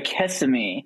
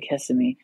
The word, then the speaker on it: Kissimmee: It sounds terrible, but we just called it Kissimmee. And I'm probably saying it wrong because people when they hear me say it, they go, oh God, you're not from here, are you?